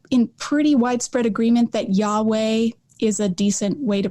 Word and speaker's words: Yahweh: but scholars are in pretty widespread agreement that yahweh is a decent way to pronounce it some think it's yahoo or yahwah but yeah i go with yahweh because it's the most commonly accepted by scholars